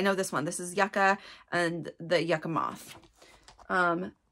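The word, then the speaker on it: yucca: my very first episode I called it Yuka and I realized Yuka is a root yaka is a flower and they are pronounced differently anyway um here is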